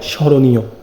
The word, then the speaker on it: স্মরণীয়: খনাপদ দেওয়া আছে, শব্দের শুরুতে মফলা অনুচ্চারিত থাকে, তবে আশ্রয়ী বর্ণকে সানুনাসিক করে, তার মানে একটু নাসিক্য করে। যেমন স্মরণীয়, তার মানে শব্দের শুরুতে যদি মফলা থাকে তাহলে কি হবে, ম এর উচ্চারণ হবে না, কিন্তু একটু নাসিক্য হবে, স্মরণীয়।